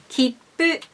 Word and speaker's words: 切符: Keep, kippu, keep, keep. If you have some trouble to pronounce this kippu, try to say the consonants here, as I said in those videos.